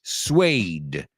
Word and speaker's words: suede: Porque se escribe suede. O sea, si tuvieras que pronunciarlo al mirarlo, wow. So, suede.